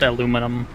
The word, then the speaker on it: aluminum: Because it's just spelled like that in British English. Mm-hmm. And then in American English it's just aluminum.